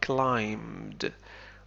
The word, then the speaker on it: climbed: climb حرف ب لا ينطق نقول climbed.